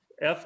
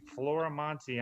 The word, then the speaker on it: Florimonte: I always spell it because nobody can seem to spell it right, even though it's spelled exactly the way it sounds. Florimonte, Florimonte. I'm on Facebook, Florimonte Jr.